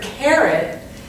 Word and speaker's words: carrot: So in the word carrot, I would say it with emphasis on the carrot. Okay, care gets more emphasis than it.